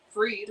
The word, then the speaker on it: Fried: Freed on Sunday. It's That is how it's spelled.